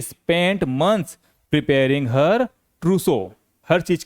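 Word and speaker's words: trousseau: अगला वर्ड है दुल्हन के कपड़े, गहने आदि सब कुछ जो होता है वो होता है ट्रूसो। इसको बोलते हैं ट्रूसो।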